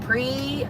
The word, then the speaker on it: Prevost: It's pronounced Prevo. Oh, there's no ST? No, there's not.